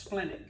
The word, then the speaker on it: splenic: the splenic artery and there's only one e in it it's pronounced splenic and again i'm not